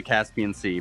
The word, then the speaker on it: CasPiancey: Is it like Caspian Sea? It's basically Caspian Sea, but everyone calls me Cass, so that works fine for me.